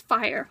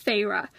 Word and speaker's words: Feyre: I thought it was Fire. Honestly, I thought it was Fire, and then it wasn't Fire, and apparently it's Feyre.